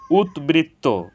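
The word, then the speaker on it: উদ্বৃত্ত: বফলার উচ্চারণ অবিকৃত হয়েছে উৎবৃত্ত এখানে উৎ এর সাথে বফালা যুক্ত হয়েছে এজন্য ব ফলার উচ্চারণ অবিকৃত হয়েছে উদ্বিগ্ন উৎবিঘ্ন এখানে উৎ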